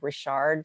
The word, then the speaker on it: Richard: It's Dawn Rashard, spelled like Richard, DAWNRICHARD you can book me, or youcanbook.me.